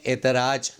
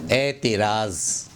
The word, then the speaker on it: اعتراض: Number پہ لفظ ہے، اس کو ہم لوگ غلط تلفظ کرتے ہیں، اعتراض، اعتراض نہیں، صحیح تلفظ ہے اعتراض۔ 25 نمبر پر اعجاز